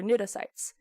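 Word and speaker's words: cnidocyte: stinging cells which are nidocites which is again also spelled with a c because latin is dumb but the anemone is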